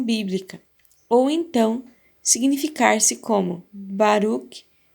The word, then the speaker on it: Baruch: ou então significar-se como Baruch, O CH em hebraico é pronunciado como J em espanhol. Baruch, Lot ou Lot.